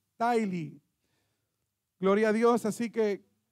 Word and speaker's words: Tithely: Y se pronuncia Tithely, en inglés, Tithely.